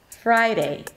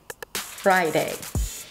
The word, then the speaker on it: Friday: Then drop your jaw wide open and then pronounce the I as in my. Fry. Fry. And again, finish it up with day, Friday, Friday.